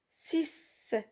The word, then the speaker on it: six: Et parfois, la lettre X se prononce S. S. On voit la lettre X et on entend le son S. Comme dans le mot six.